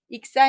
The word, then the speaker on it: 익사: 잘 읽어 보실 까요 탑은 익사 인데 혹시 약사 라고 있지 않으셨나요 빠질 입자 의 죽을 4짜 입니다 물에 빠져 죽는 것을 익사 라고 하는데 약할 약점을 보시고 약사 라고 많이 하는데 우리 약국의 약사 아니겠죠 조심 하셔야 되겠습니다 한번 읽어 보시겠어요 이것은